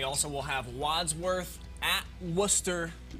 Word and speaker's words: Worcester: And then we also will have Wadsworth at Worcester. Saying it correctly. Worcester? I know they like to be called Worcester. Woo Town, Phonetically correct. but it's Worcester.